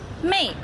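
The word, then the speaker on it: 妹: the sound as well pronounce May May in Chinese means sisters when you speak Chinese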